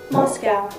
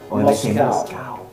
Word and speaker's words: Moscow: Moscow. Moscow. See, Americans say Moscow. We say Moscow. We'd say cow. C-O-W, cow.